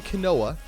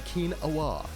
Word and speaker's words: quinoa: damn day quinoa bro not not some canola it's a keen Allah so this we're gonna